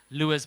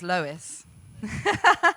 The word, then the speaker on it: Lois: So please welcome onto stage Lewis. Thank you. Thank you. The correct pronunciation is Lois, like Lois Lane.